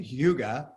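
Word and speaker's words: hygge: word but okay i looked up how to say it it's a hyuga and it's like it's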